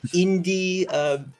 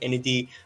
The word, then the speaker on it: Enedee: I've been called Enedee, Enedee, Indie. Any of them work fine. So I I, Okay. I pronounce it Enedee.